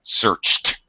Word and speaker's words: searched: with Ed d uh you need to pronounce the Ed as a t sound searched searched yeah searched watched